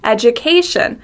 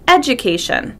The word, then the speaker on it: education: We stress the A, education. Sometimes people stress a different syllable, like education, and it doesn't sound natural. You can hear it sounds a little weird. Education. Make sure you stress the correct syllable.